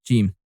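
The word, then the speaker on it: جيم: So now you got Jim. And do you know what Jim sounds like? Yes, you're right, like the J of Jacobs. You say J, J, J, Jim.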